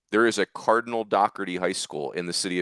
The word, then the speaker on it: Doherty: I think it's it is, but it is Doherty.